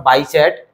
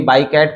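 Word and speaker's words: Bichat: थे उनका नाम था बाई चैट कोई कोई बाई कैट पढ़ता है लेकिन नॉर्मली इसको प्रोनाउंस करते हैं हम लोग बाई चैट करके ठीक है तो इस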